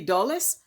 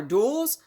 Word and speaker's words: Dulles: of state and now i might have pronounced it incorrect it could be dulles or duels but are a duelist but it's john foster d-u-l-l-e-s and he's a former